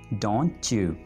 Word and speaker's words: don't you: Don't chew. Chew जैसे chewing-gum. Chew. Don't you.